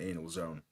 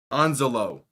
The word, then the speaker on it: Anzalone: I know there's a better way to pronounce his name than Anal Zone. Anzalone. That's what.